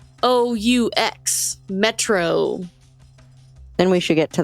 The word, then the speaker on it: Metreoux: It's spelled French, because it's METREOUX, Metro.